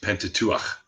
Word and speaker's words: Pentateuch: the of the Bible but well that's the Pentateuch but still so it's it's actually just so you know because I was raised Jewish it's actually pronounced Pentateuch you have to put that at the end